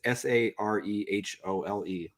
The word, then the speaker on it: Sarehole: he grew up, and I think it's pronounced Sarhole. It's Sarehole.